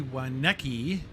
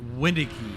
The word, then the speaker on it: Waneki: get around the track Cody waneki is uh windy key that's how you actually pronounce his name for everybody I don't